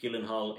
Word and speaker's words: Gyllenhaal: It features Jake Gyllenhaal in it, I believe that's how you pronounce it, and it's all about him and his relationship with the woman in his life.